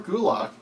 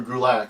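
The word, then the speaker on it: Gulak: versus Alicia Fox and Drew Kulak I'm sorry - drew Gerlach I mispronounced that drew Gerlach is going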